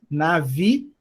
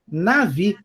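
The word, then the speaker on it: נביא: Primeira sílaba tem o nun com A, na. A segunda, um vet com o hirik yud, navi. E o aleph não tem som nenhum. Navi.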